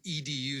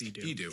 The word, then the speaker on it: Edu: Are we supposed to pronounce it edu? I always thought it was Ed. I think it's I think it's Edu. It's Edu. I said it wrong, Rob. That's okay. I don't mean to make you look like the fool. No, it's true. It is Edu because when Andrew was little, that's how you pronounce Andrew.